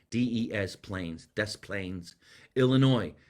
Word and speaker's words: Des Plaines: D-E-S Plains, Des Plaines, Illinois.